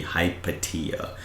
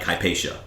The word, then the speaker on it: Hypatia: HIPAA and then other ones seem to be hypatia tomato tomato whatever you want to say your official pronunciation sounds like hpaa yes that hypa is the common English pronunciation